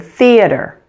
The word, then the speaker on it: theater: how to pronounce it just make sure to stick out your tongue a little bit like this be careful not to